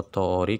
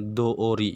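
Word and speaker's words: 通り: Yotei no tori kalau pakai no dibacanya tori, tapi kalau nggak pakai no itu dibacanya doori ya minasang.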